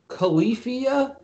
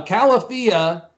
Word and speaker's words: Califia: know i'm drinking uh califia cap he said in a different way greg what did you say how'd you pronounce calafia okay california so just think of california okay i have to